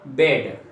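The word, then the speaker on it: bed: तो यहाँ पर देखिए दो व्यंजनों के बीच में आने वाले ई का उच्चारण अक्षर ए होता है।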